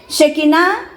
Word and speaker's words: Shekinah: definirlo de esta forma para que lo podamos pronunciar shekina significa la presencia de Dios la gloria y